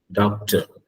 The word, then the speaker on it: doctor: a letter doctor doctor the last R you cannot pronounce it you shouldn't say it out loud okay the r is not there you don't pronounce it okay you simply say doctor that's it R doesn't